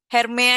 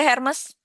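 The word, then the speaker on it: Hermès: Semcam Herme aja. Hermes, hermes itu bacanya herme gitu ya.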